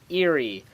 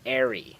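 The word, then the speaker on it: aerie: Today we're going to be checking out the airy or possibly eerie. I looked up a lot of different pronunciations for this and I found different pronunciations. However, I do believe the correct pronunciation to be airy.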